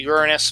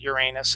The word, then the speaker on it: Uranus: And it's pronounced basically Uranus, but everyone calls it Uranus.